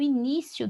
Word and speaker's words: início: Inicio, eu não vou acentuar porque é um verbo. E inicio, se é a sílaba mais forte, e é uma paroxítona terminada em O, então não acentua. Agora, no início já é substantivo. Início, aqui eu tenho uma paroxítona terminada em IO, né?